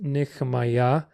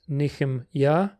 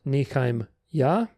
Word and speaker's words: Nehemiah: For example, my name, Nehemiah, pronounced Nehemiah, means Yah comforts. However, if I said Yah comforts in a regular biblical Hebrew sentence, it would be Nichaim Yah. Why is my name pronounced Nichem Yah and not Nichaim Yah?